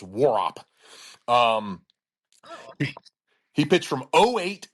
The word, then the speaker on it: Warhop: W A R H O P, but it's apparently it's pronounced Warop.